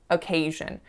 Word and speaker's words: occasion: was the word occasion occasion so as you can hear the first syllable is a schwa and then the second syllable is stressed however I did it